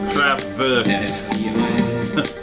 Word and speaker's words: Kraftwerk: And Kraftwerk is German for power station, and it's pronounced Kraftwerk. Gotta get my German.